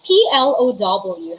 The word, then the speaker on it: plough: so for the pronunciation they are pronounced the same but a whole pronunciation american or british spelling the pronunciation for that word is plow everybody say plow plow and when you